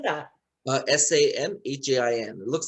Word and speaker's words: Samhain: had every what is it how do you spell that uh s-a-m-h-a-i-n it looks like samhien but it's pronounced samhain yes so uh we